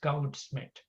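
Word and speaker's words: Goudsmit: Is spelled Goudschmidt, but it's pronounced Goudschmidt.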